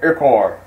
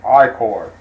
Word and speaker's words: ichor: I can fill it with magical ichor. That's pronounced ichor. Excuse the first pronunciation of myself.